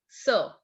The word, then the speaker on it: ce: QUI is pronounced as key. Write it down. Key. EST is A. And CE is sir.